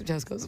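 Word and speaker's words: Cesco's: Chesco is CESCO apostrophe S. Chesco's. Okay. Because their child's name was Francesco.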